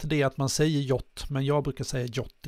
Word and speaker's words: JWT: Det här JOT då, det uttalas JOT, så det är därför jag säger JOT. Men ibland när jag säger JOT till folk så fattar de inte vad jag menar, och så säger jag JVT, då fattar de direkt.